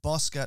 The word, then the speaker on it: Bouska: it up of course it's boscott not busca i apologize oh that's